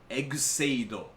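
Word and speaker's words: Kamen Rider Ex-Aid: Rider X-Aid, and that's pronounced Egseido in Japanese, but they've officially chosen to romanize it as X-Aid.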